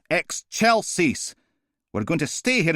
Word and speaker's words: excelsis: It's pronounced excelsis.